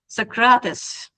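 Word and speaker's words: Socrates: My pronunciation might sucks but I'm trying. I have a heavy accent. Socratus.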